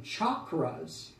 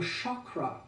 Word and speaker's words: chakra: the chakras or worse accessing chakras which is a mispronunciation of the Sanskrit we have very little energy occurring very little workings but if we become aware of the Shakra and the Sha and